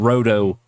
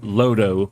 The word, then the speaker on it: Roto: They called them Roto in Japan, or Lodo, since they don't pronounce R's. They pronounce them as L's.